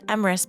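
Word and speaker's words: Emrys: And, while I didn't get an answer, I did ask if Emris, pronounced Emris by the way, was romanceable, and again, I didn't get an answer.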